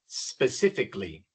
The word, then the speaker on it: specifically: Así que para convertirlo en adverbio de modo le agregamos a L y, pero se pronuncia specifically. Specifically, no pronunciamos la a, no decimos specifically, no, es simplemente specifically.